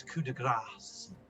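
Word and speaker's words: coup de grâce: It's coup de grace, and so that'll take it to a 10.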